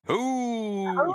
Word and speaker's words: Heauxs: It's all Ghosts, the letter N, and then HEAUXS. Pronounced Who's.